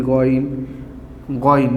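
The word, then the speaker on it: غين: And I'm giving Z under the Goin, not Gain.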